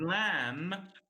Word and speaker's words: lamb: letter and for example the word lamb is spelled with B but the B is not pronounced the same with the